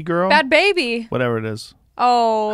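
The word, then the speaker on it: Bhad Bhabie: are make like that bad Barbie girl. Bad baby. Whatever it is. Oh. How do you say it? Bad baby. Is it baby? It's not bad Barbie? Nope, bad baby.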